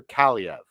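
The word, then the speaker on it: Kaliyev: the Los Angeles Kings Arthur CV yes and I am pronouncing that right because I had to make sure that I was going to pronounce it right so uh Arthur CIA now everyone this is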